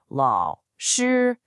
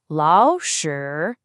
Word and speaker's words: 老师: Whenever two third tones are next to each other, the first one magically transforms into a rising second tone. So the correct pronunciation is actually 老师.